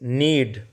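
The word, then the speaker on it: knead: ए की बूंदों में इस नीड के साइलेंट रहेगा वे अपने टेंपर्ड ग्लास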